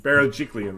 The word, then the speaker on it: Berejiklian: You can't even say it, Pete, let alone spell it. Anyway, you know what I'm saying. Berejiklian, that's it.